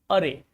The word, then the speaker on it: awry: Another very important word is awry. Is awry. In this word, W is silent.